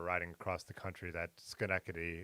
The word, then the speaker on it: Schenectady: across the country that Schenectady is pronounced schneckity and when he was